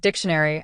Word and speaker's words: dictionary: Let's take the word dictionary as an example. Can you recognize which syllable is stressed?